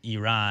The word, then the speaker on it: Iran: It's pronounced Iran."